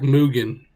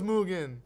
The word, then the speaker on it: Mugen: it's like Mugen.